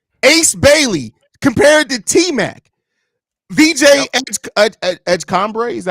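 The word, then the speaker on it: VJ Edgecombe: VJ Edgecombre, is that how you pronounce his name? Edgecombre, yep.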